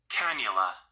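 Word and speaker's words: cannula: so the second word is spelled c a n n u l a can canula canola canula but we about to see how it's pronounced canula canula canula canula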